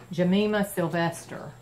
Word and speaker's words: Gymnema sylvestre: I'll show it to you here it's it's pronounced Jemima Sylvester but this is the bottle and I saw dr.